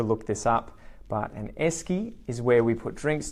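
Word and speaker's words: Esky: so something e and it rhymes with desk you got it you got it and esy and it's spelled e y esy I'm not sure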